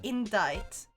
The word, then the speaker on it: indict: We pronounce the word indite because its original spelling in English was endite. A spelling that was used for 300 years before scholars decided to make it look more like its Latin root word indictare.